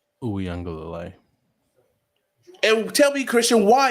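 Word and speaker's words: Uiagalelei: North Carolina and Drake May, or Clemson with DJ Ungalalele? Uyunglele.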